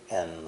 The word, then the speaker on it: and: And is almost always lightly pronounced with only the N sound.